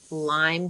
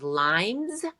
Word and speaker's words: Lyme: to these different doctors, so many people will pronounce Lyme disease as limes with an S. So, that was like nails on the chalkboard. Like, if somebody if a doctor said limes, Alex and I would